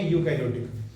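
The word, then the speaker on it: eukaryotic: इसे यू बोले हैं, खाली स्पेलिंग होती है EUO, बोलेंगे यूकैरियोटिक। अब इसमें लिखिएगा कुछ ऐसे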